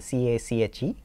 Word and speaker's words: cache: cache or l2 cache right that is the c-a-c-h-e pronounced cache now this cache is implemented using something